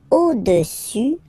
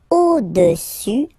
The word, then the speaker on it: au-dessus: Le cube est au-dessus du cylindre. So let's repeat it. Le cube est au-dessus, final S not pronounced here, au-dessus du cylindre.